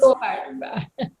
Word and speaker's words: Gohar: Gohar or Gaver, I don't know how to pronounce your name because Gohar. Baba always said go and then a her, Gohar.